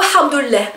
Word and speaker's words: hamdoulilah: assez drôle parce que on le prononce avec une lettre, avec un son qui n'est pas qui n'existe pas en français, donc le ha, hein, ha, ça vient de la gorge, et ça fait quand